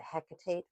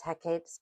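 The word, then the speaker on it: Hecate: I always pronounce it hecitate but that's not correct. It's hecapes path and herbal craft.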